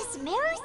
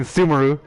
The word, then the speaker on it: Sumeru: be to head to Sumeru City and find a way to meet with Lesser Lord Kusanali. I've been pronouncing that wrong the whole time, oh my god. I've been saying Sumeru. It's Sumeru.